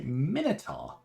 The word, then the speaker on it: Minotaur: three down cool right minotaurs or as I say some people say minitar I've always said Minotaur and that's one of